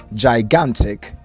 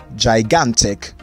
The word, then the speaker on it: gigantic: for that word is gigantic gigantic gigantic so the second g is realized as g not j and the last word